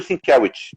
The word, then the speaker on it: Sienkiewicz: Mas assim, o que ele me falou é Bill Sienkiewicz. Céu, Essa nossa, é a pronúncia mais correta.